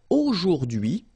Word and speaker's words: aujourd'hui: So the first one, A-U-O, jour, and then d'hui, okay? H is not pronounced, so you only get this d'hui thing.